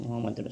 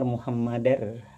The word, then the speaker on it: Muhammadur: Pada kesempatan ini saya akan membicarakan masalah pengucapan kalimat zikir la ilaha illallah Muhammadur Rasulullah. Kita kan sering mendengar di masyarakat bahwa masyarakat dalam berzikir itu la ilaha illallah Muhammadur Rasulullah. Sering kita mendengar Muhammadar, padahal yang benar itu adalah Muhammadur.